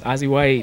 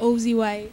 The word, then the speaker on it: Ozzie Whyte: Oh, it's Azie White. Ozie White. Ozie White. Did I say your name wrong the whole time?